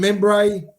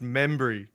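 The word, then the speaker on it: Mumbray: We had Tim Membray. Hey, lift your eyes up, Manny. Lift your eyes up, Manny. Bloke's been playing footy for 20 years, and it's pronounced Membry. Well, at Collingwood, it's called Membray.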